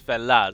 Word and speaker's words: fellas: But it's it's obviously it's a like mutated version of the word fellows, and it becomes felas. So, just f e l a s, that's how you say it.